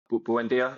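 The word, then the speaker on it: Buendía: Anana Buendia is how you say his name.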